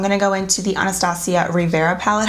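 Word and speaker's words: Riviera: go into the anastacio Rivera palette I was pronouncing this wrong when I first got this I was calling it the rivetti palette it's not the real video Bella it's the Rivera palette but I love honest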